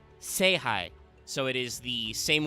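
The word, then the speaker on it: 聖杯: And World Chalice is specifically written as Star Chalice in the characters, but is pronounced, it is written phonetically, Seihai.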